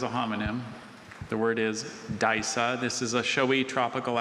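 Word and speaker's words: Disa: The word is Daisa. This is a showy tropical African terrestrial orchid with tuberous rootstocks and dark green leaves. Daisa.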